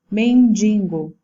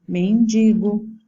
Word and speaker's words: mendigo: E os exemplos dessa forma de barbarismo: mendigo em vez de mendigo, gratuito em vez de gratuito, ali é a posição da sílaba tônica.